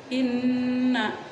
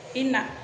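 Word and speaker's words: إنّا: Nah, dibaca dengan inna. Nah, nunnya itu didengungkan dulu. Jangan dibaca inna. Boleh, karena ada tasdidnya ya.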